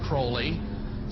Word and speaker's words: Crowley: have his name pronounced Crowley to rhyme with holy and the satanists today